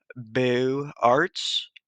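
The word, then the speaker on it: Beaux-Arts: jefferson memorial is uh boo arts which uh is spelled b-e-a-u-x and in french it means beautiful and the um the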